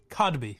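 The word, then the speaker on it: Kotb: Hodb Codby howby is that how you pronounce Cosby. Codby. Oh Codby.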